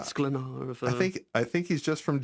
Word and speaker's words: Sklenar: Sklenar. I don't know if that rhymes with splainer or something, or no. Sklenar.